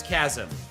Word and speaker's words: chasm: Sorry, it's chasm. I still mispronounce that just like I still mispronounce internally first before I say it out loud.